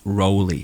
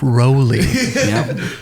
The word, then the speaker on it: Rowley: correct please please okay it's Rowley record Rowley Rowley like Rollie pollie I Rollie pollie put